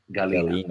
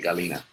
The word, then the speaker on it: Galina: You got to help me pronounce this because I keep saying her because I don't want to mangle your name. Is it Galina? The easiest way to solve this would be let me invite you on video and you pronounce it. Galina. Okay, Galina. All right.